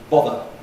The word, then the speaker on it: bother: Father has a long vowel. There's therefore a different rhythm. Bother.